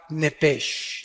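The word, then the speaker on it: נפש: el original hebreo es la palabra nepes apúntala como suena nepes con sh se pronuncia nepe al morir algo se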